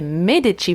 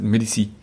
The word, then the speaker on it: Medici: I learned in the catacombs last week that the French pronounce it Medici. Medici. Medici. Medici. Medici. Yeah, Rue de Medici. Rue de Medici. Yeah, but in Italian, and she was Italian. Medici.